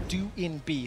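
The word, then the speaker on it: Doinb: have received uh updated information how to correctly pronounce d b his nickname is how we used to say it it is do INB so we will be referencing it that way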